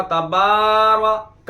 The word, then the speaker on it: تبارک: ہے، و تبارک اسمک، وہ بے بھی کھینچتے ہیں اور رے بھی کھینچتے ہیں، جبکہ بے کھینچا جائے گا اور رے نہیں کھینچا جائے گا۔ و تبارک اسمک و تعالی جدک